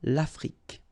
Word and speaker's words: Afrique: Final E, it's only the k at the end that you will hear. L'Afrique, okay?